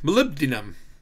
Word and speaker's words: Molybdenum: Okay, now I can pronounce it correctly. Molybdenum.